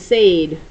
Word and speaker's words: said: This is actually a short E sound, but it's spelled with an A-I. So it looks like we should write it said.